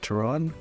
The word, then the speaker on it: Turán: I think it's pronounced Turán, Hungarian tank.